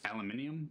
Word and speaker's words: aluminium: And I know aluminum is not actually said the way Canadians and Americans say it. I know I have British friends and Scottish friends that what do they call cuz we call it aluminum but it's aluminium.